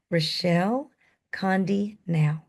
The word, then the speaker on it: Rechelle Conde-Nau: And I'm going to try to pronounce her name correctly. Rechelle Conde-Nau.